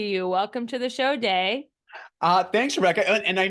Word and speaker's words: Dai: welcome to the show day uh thanks Rebecca and I know sometimes it's pronounced day but sometimes it's also pronounced die so you we'll go with a Welsh pronunciation but no you're you're